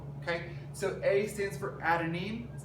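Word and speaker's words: adenine: So A stands for adanine.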